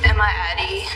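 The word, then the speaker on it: Emadie: Will you please state your name and spell it for the court reporter? Emma Addie E M A D I E.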